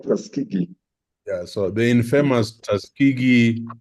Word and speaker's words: Tuskegee: Can I just help her to pronounce that word? Yeah. All right. Go ahead. Tuskegee. That is called Tuskegee.